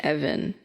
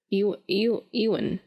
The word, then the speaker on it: Ewan: It was his name Evan. Is it Ewan, right? Now you're questioning how I pronounce it. Ewan. Ewan? I don't know. He's got a weird name. It's not Evan. I know that.